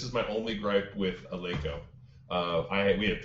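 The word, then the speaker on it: Eleiko: Well, I mean, if you haven't noticed the way she pronounces Aleko, that's like the technical way, right? That's how the Swedes pronounce it.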